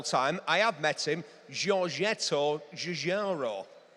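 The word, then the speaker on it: Giorgetto Giugiaro: Giorgetto Jarro. Well, that's how I'm pronouncing it. Like a native, a native of Berry.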